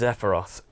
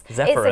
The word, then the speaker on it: Zephyrus: The Asus Zephyros, can't say it properly. Zephyrus.